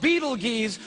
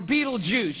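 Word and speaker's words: Betelgeuse: heard about this star it's called Beetle geese or Beetle Juice you can pick your pronunciation I'm obviously going with Beetlejuice and beetle juu is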